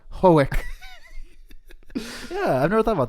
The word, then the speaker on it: Hoek: people would pronounce it like Ren Hook, Hoek.